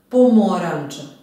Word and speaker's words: pomoranđa: Pomoranđa. Pomoranđa. Pomoranđa. Akcenat je opet na drugom slogu.